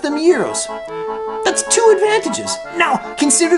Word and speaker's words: gyros: Now, consider the advantages of pronouncing these sandwiches gyros, like you do. Okay, it rhymes with heroes, I admit that. Heavyweight boxing champion Rocky Marciano, who was born on this day in 1923, probably pronounced them gyros.